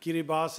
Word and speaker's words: Kiribati: of kiribas now that for some reason it's spelled Kiribati k i r i b a TI and that's not French otherwise I can understand that the spelling would be very different from the pronunciation but uh the president of kiribas and I in I